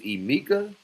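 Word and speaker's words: Emeka: But your name is EA.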